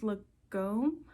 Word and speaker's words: Lagom: This is gonna be the, I think it's pronounced Lagom, L-A-G-O-M, I'll put it in the description, sweater from Nomad Stitches.